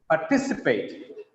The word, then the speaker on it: participate: Here, the second syllable stress, the word is polysyllabic. That's 4 syllables.